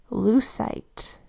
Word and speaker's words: lucite: It is spelled with an L that says ul, and then an EU that says oo, a C that says S, I that makes a long I sound, and which also is softening that C to S, because C before E, I, and Y softens to S.